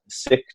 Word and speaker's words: Sikh: the Sikh tradition, or Sikh, some people pronounce. But so just so you don't get confused, if you're listening, Sikh, not S-I-C-K, the tradition of being sick, but the tradition of being a Sikh, which is a student of the infinite.